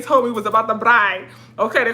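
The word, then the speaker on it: braai: me was about the bride okay they call it a bride we said barbecue or cookout they call it a bride i think it's spelled b-r-a-a-i so they was like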